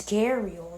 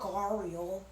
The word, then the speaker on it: gharial: Like the A, like when I look at this, the A becomes before the. There's no R. There's no R. It's gharial, not gharial. Like you hear the R and there's no R there. That doesn't make sense.